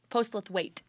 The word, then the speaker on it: Postlethwaite: Amelia Harding and Alexandra postlethwaite yeah post with weight thanks last week I